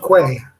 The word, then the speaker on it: Quay: There is a couple interviewed by Maria Z, found on the Sage of Key Sage of Quay. Quay, is it? Well, I pronounce that Key, but Quay.